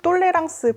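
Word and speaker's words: tolérance: 이렇게 많이 얘기를 하거든요 똘레랑스 불어로 어떻게 발음을 하냐면 똘레랑스 아고 하는데 무슨 말이냐면 관용이라는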